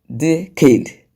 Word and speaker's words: decade: So you can see that all the words, the 4 words that are there, have their stress, their stress on the first syllable from the end of the word.